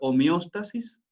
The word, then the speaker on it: homeostasis: Fíjense que homeostasis en castellano tiene acento en la O, por lo tanto es homeostasis.